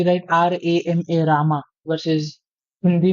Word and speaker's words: राम: In English में भी अगर उसको पढ़ोगे तो तुम रामा नहीं पढ़ोगे, उसको राम पढ़ोगे. But because of the English translations और द इंग्लिश प्रोनाउंसिएशंस जो हमने सीखी है बचपन से, वो राम की जगह रामा हो जाता है.